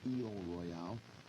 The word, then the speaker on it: Isle Royale: State of Michigan, the Isle Royale, which may be pronounced by some people as E Royale, is the largest island in Lake Superior.